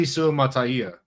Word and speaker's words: Suamataia: And it's Kingsley Suamataia. Yeah, yep. Yeah, I posted a pronunciation guide because I couldn't listen to any more of these podcasts.